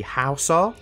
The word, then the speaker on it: Hausa: So it's not the Horsa people, apparently it's pronounced the Hausa.